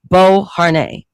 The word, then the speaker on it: Beauharnais: That's how you pronounce the last name, Beauharnais.